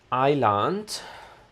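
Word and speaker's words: eiland: Hit island like Iceland.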